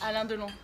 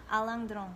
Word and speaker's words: Alain Delon: How do you pronounce it in French? Alain-de-long. Alain-de-long.